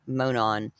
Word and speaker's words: Monon: We all know the unseasonably warm day they took a walk on the Monon High.